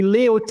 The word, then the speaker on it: Leautey: It's actually leote in French because I was living abroad since the age of 20.